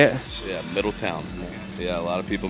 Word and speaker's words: Middletown: yeah and I saw you're from is it Middletown Ohio is that how you say it yeah Middle Town yeah a lot of people mispronounce it for